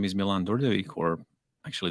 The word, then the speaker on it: Dordevic: So, yeah, my name is Milan Dordevic, or actually it's pronounced Dordevic.